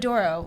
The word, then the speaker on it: Pomodoro: Is if there were no Pomodoro Timer, I don't know if I would make it. Pomodoro. That's how you pronounce it? Pomodoro, like the Pomodoro. sauce. Oh, Like yeah. Italian tomato sauce.